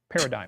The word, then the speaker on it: paradigm: drink good job ken you got that silent g in there is it what's that word